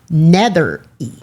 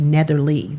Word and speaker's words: Nethery: her name is Joyce Nethery. Nethery. I wanted to put an L in there so bad. I wanted it to be Netherly, but it's Nethery.